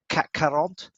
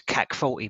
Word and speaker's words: CAC 40: French market, in the CAC 40. Nice, nicely pronounced as well. Yeah, so, or just if you're from Essex, it's CAC 40, mate.